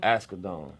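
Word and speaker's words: Asghedom: Ascadon.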